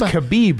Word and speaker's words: Khabib: Is it Khabib? It's Khabib, from what I understand.